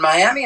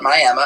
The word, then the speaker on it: Miami: knew things well in Miami Oklahoma or as they like to say there may I I kid you not they call it Miama it's spelled Miami but